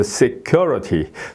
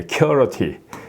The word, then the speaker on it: security: 예, 여기에 액센트가 들어간다. 여기에 IT가 있으니까 그 앞에 UR에 들어간다. 그래서 security. 예, 이렇게. 이것도 이제 말하자면 이제 이게 슈어어 비슷하게 이렇게 되는 거예요. security. 예, security. 예, security. 예, 이렇게 발음이 되죠.